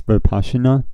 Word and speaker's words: Vipassana: I can never say that word right. But I think it's Vipassana. Okay, so at least that's how they say it in the song. So I'm assuming that's right. Which is just kind of